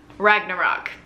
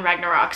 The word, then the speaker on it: Ragnarok: it's called ragnarok right i'm trying to say it like norwegian ragnarok it's on netflix it